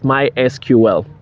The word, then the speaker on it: MySQL: to introduce you to my sql that is how they pronounce it but in actual sense it's mysql so um mysql is